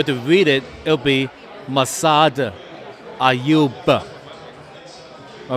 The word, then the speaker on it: Massad Ayoob: Thank you, Masad Ayub. All right. Now, I butchered this name. It's Masayu. But, you know, if I